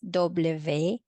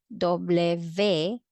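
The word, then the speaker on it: doble ve: you might be wondering no there is this uvedoble and in this video it is pronounced or called as dobleve so both are correct okay so if you're singing this song then you can sing doble v this is the w all right doble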